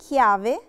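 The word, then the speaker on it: chiave: لتر تشي وراها أكا، وراها لتر أكا اللي احنا اتفقنا ان احنا ما بننطقهاش ابدا، هي مش هننطقها لكن هتغير لنا نطق الحرف او هتثبت لنا ان احنا ننطقه ك، ننطقه تشي دورا. ومثال عليها كلمة كيافي. كيافي يعني مفتاح.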